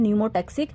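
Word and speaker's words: pneumotaxic: अपर वाला इस called न्यूमोटैक्सिक, P silent होता है, एन से हम प्रोनाउंस करते हैं, और जो लोअर पोर्शन होता है दैट इज कॉल्ड एप्निवेस्टिक सेंटर।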